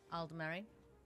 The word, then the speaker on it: Aldemary: Or however you guys want to pronounce that, but to me, it's Aldemary. I've heard people pronounce it differently.